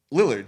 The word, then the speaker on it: Lillard: The C is silent. Lillard, you are correct. It is L-I. I always thought it was I-L. Matthew Lillard.